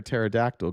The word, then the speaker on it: pterodactyl: Kelly says, "Antifa, dudes, why can't you hear a pterodactyl going to the bathroom?" Because the P is silent.